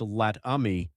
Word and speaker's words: Latham: Vance Latham Jr., pronounced Lat-Ummy, provides detail about the gun, like the planning and the aftermath.